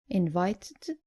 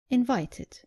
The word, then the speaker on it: invited: The less common mistake is not pronouncing the id clearly at the end of verbs ending in t or d. Just make sure you pronounce the e clearly. So, not invited, but invited. And not demanded, but demanded.